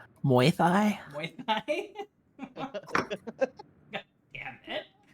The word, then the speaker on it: Muay Thai: The goon starts prancing around like a Mai Tai. Why did I have to say that wrong? Mai Tai boxer. He's smiling, but his eyes send a clear message. Actually, Zed, it's pronounced Muay Thai.